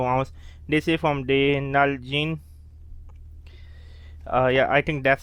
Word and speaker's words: Nalgene: pronounced genie but again i know it's pronounced null gene so this is made